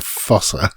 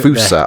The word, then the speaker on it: fossa: I keep wanting to say cat, but it's a fossa. So yeah. A fusa, I think it's supposed to be pronounced.